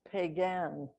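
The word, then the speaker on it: Piegan: people pikani p-i-k-u-n-i also has a synonymous name which is pronounced pagan but it's spelled in the u.s as p-i-e-g-a-n but in canada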